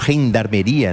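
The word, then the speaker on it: gendarmería: E a gendarmeria, ou gendarmeria, né, numa pronúncia mais próxima aqui do argentino, do castelhano, do espanhol, é que faz esse transporte do material eleitoral.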